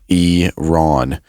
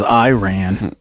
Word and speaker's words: Iran: It's Iron. I thought it was Iran.